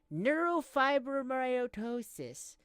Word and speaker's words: neurofibromatosis: I have something called neurofibromatosis.